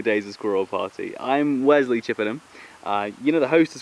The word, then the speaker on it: Wesley Chippenham: Okay, that's how you pronounce it. Wesley Chippenham.